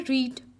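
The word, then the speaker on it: read: की second form है इसे हम रीड नहीं पढ़ते इसकी प्रोनंसिएशन है रेड राइट रेड होता है ये राइट मतलब लिखना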